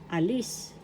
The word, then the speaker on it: alis: Example a alis. Alis in English depart. The second syllable has the accent alis the part in English